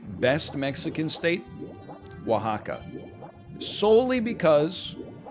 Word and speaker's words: Oaxaca: say best mexican state oaxaca solely because once you learn how to pronounce it you feel superior because you're like o-a-x-a-c-a and then someone's like oh it's oaxaca and then you're like